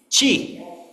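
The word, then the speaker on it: 七: How do you pronounce number seven in Chinese? Chi.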